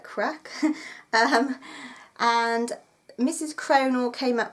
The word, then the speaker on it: craic: about CRA I see I'm glad that I was told that you don't say it that you say it like crack and mrs.